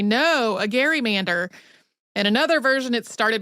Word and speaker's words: gerrymander: in the Senate as Gary Mander became part of the political lexicon its pronunciation gradually shifted to gerrymander the way that we say it today and it was included in Webster's Dictionary in 1864.